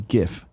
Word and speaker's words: GIF: correctly oh I see gif okay good yeah I don't I'm just checking I don't want this jiff garbage I don't care what